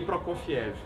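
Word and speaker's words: Prokofiev: aí repete ser gay PR cfia ser gay eu sei falar olha a pronúncia PR CF isso PR cev isso PR C aqui a gente chama de Sergei proc ciev né é Vamos aprender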